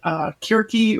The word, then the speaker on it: Circe: I was recently really rocked by a female writer, Madeline Miller, wrote a book called Kirke or Circe, depending on how you want to pronounce it.